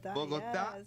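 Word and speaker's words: Bogotá: Bogota, yes.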